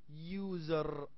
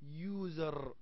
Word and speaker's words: user: نعم، لأنه a user تلفظ you use user user. You see beginnings with a consonant y sound.